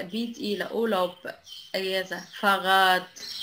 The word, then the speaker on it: Fahrrad: Fahrrad Fahrrad نطق تي.